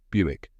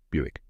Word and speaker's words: Buick: the correct pronunciation is Buick rhymes with music let's break it down